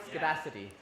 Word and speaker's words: Homoscedasticity: How do you pronounce that word? Homoscedasticity.